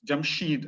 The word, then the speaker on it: Jamshid: language is found as jamshed jamshid as iranians would pronounce it so jamshed is would